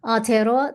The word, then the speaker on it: Aotearoa: So, Aotearoa, the land of the long white cloud, is New Zealand. And that is how it's said. The name is said in Te Reo.